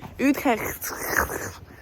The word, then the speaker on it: Utrecht: Utrecht. Utrecht.